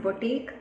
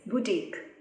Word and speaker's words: boutique: of appreciation next word is boutique it's not boutique it's boutique we know a boutique is a small shop